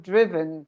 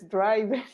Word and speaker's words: driven: okay so drive drove driven there's the problem that everybody says driving like if as if it were a gerund and it's not a gerund why road ridden rice